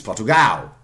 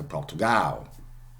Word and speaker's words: Portugal: Okay, even Portugal is Portugal. Okay, Portugal. Okay, so the Portuguese do it quite a lot.